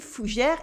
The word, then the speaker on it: Fougères: So we have a je, and the S in fougère is silent.